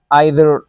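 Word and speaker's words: either: मिसाल के तौर पर हमारे पास है ईच, और दूसरा है आइदर या ईदर, दोनों ठीक है, या नाइदर या नीदर, दोनों प्रोनाउंसिएशन ठीक है, ठीक है।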